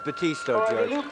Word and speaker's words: Batiste: and sometimes he's pronounced badass and sometimes he's pronounced Batiste well depends on what's I guess the correct pronunciation is Batista number eight at that